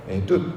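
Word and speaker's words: עֵדוּת: 에덴의 모양으로 만들어질 때 이걸 에둣 이렇게 이제 발음을 해서 우리가 가르쳐 줍니다.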